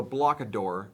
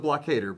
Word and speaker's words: Blockader: A lot of my conversations I had at LVO were about the Blockader, or the Blockador, as some of you like to pronounce it, but it's the Blockader, by the way.